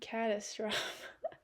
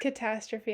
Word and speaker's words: catastrophe: like oh wait yeah it's catastrophe I said it wrong I'm sorry I speak French and that's how you say it in French okay um yeah well